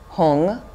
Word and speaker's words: hum: In the center of the moon is his seed syllable, a white hung, H-U-M or H-U-N-G, standing upright.